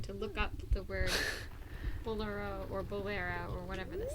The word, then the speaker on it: bolero: So it comes from Spanish, bolero. Bolero? Probably bolero in Spanish, right? Bolero. It has an accent mark on the E, it looks like. Bolero. So it's probably bolero. I've been saying it wrong my whole life.